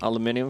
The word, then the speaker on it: aluminum: Can you pronounce aluminum? Aluminum for me?